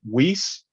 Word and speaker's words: Wease: so today i do have on uh gary wiese gary am i pronouncing your last name right that's correct yes